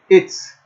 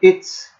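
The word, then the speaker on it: עץ: Como há um AIN, o AIN não possui som, então nós temos etz. E o serê, que é a vogal, é uma vogal de pronúncia longa, de pronúncia fechada, né? Seria a ideia de E como na palavra V. Por isso a palavra árvore em hebraico, melhor, mais próximo do correto a ser então pronunciado, seria etz.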